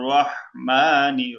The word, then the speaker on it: রাহমানির: হবে বিসমিল বিসমিল্লাহি বিসমিল্লাহির রাহমানির রাহ রাহিহা আইন যেখান থেকে উচ্চারণ হয় গলার মধ্যকার এখান থেকে উচ্চারণ হয় রটা কি হবে? মোটা হবে। রহমানির র মোটা হবে।